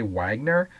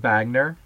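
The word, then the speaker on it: Wegener: guy named Vagner Alfred Vagner you might look at and say well doesn't it say Wagner well he was German so we're going to pronounce it Vagner just like the Volkswagen so in in this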